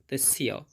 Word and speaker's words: তস্য: লাইনটা দেখতে পাচ্ছি এবং প্রথমে আছে তস্য। এখানে দন্তস্বয়ের জন্য ছয়ের মতো উচ্চারণ হবে এবং জফলার জন্য তস্য।